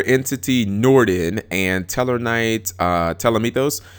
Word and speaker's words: Ptolemaeus: Okay, Newly Forbidden, Eller Entity Norden, and Teller Knight Ptolemaeus. I think that's how you pronounce it. I think the P is silent.